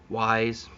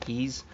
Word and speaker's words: Ys: of ease you know the y apostrophe s some people call it uh wise but i'm pretty sure it's pronounced keys that's a great great